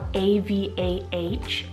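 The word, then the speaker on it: Avah: We have the timeless name Ava, spelled A-V-A-H, Ava.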